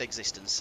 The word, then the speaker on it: x6tence: this way and existence so it's just existence as this as in someone's existence it's been the bane